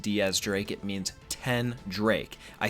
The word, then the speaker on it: X Drake: would be X drink because like I said it is actually pronounced Diaz Drake it means 10 Drake